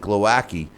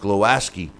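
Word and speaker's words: Głowacki: Chris algeri uh also uh um Kristoff uh glowaski I you know I pronounce it glowaki but it's pronounced glowaski uh his uh victory over uh Steve USS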